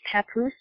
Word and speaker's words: Papoose: So his name is pronounced Papoose? Yes. You know what that sounds like? You know there's a place in Oregon called Scappoose.